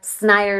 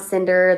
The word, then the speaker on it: Snyder: Snyder, not Cinder. The N is before the Y.